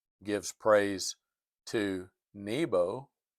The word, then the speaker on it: Nebo: Um they had um Nebuchadnezzar's own name gives praise to Nebo or Nebu, sometimes pronounced.